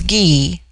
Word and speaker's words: Gi: The word for woman is Gi, pronounced hard as in Guy. It forms itself into Jaye for the plural, but the G becomes soft in the plural, like JY-EI.